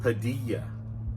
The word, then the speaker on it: Padilla: "Juan" "one" and "Padilla" But again that "uh" sound, so that's how we're going to pronounce it with that weak vowel sound at the beginning.